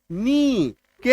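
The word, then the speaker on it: knock: पे है ही नहीं साइलेंट लेटर के केस में आप ये मान के चलिएगा कि वो शब्द में वो जो अक्षर है वो है ही नहीं वो वहां पे मौजूद ही नहीं है के एन डबल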